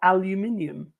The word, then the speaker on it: aluminium: Iron, gold, copper, or aluminium? Or as the Americans say, iron, gold, copper, aluminum.